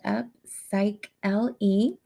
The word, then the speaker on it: Upsychelly: always like to just remind everybody it is pronounced up psych l e um and it sounds like upcycling with upcycling